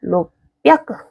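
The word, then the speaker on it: 六百: 하다가 로크야크, 요크라크 이렇게 계속 하다 보니 얘가 로비아크가 됩니다. 로비아크. 로크야크보다 훨씬 편하죠, 발음이.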